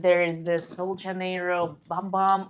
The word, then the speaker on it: Bum Bum: is this Soul janiro bum bum or boom boom cream as they advise as to pronounce it I'm allergic to that